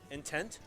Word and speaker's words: In10t: we have so how this is how we pronounce this tag in one out intent that makes sense actually I like it